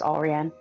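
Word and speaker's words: Allrianne: It's Olrian. But then it's not phonetically how it looks, though.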